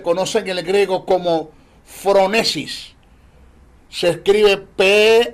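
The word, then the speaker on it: phronesis: lo que se conoce en el griego como fronesis se escribe pH H R o n e s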